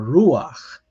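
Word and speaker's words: רוּחַ: underneath a consonant where instead of pronouncing it after the consonant you pronounce before it so remember um normally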